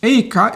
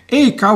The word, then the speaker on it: EKA: a Swedish friend and I'm trying to get as close to the Swedish pronunciation as I can. First, a little geographical orientation. Here is a map of Sweden. EKA is located in Eskilstuna,